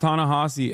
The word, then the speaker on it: Ta-Nehisi: for a different time it's pronounced tanasi FYI I know I said